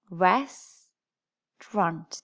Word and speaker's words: restaurant: okay so listen again restaurant how many syllables do you hear res drunt there are two so which sound don't we say and it's this one in the middle okay which syllable is